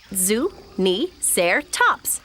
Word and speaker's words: Zuniceratops: I'm Zuni-Ceratops. You say it Zuni-Ceratops.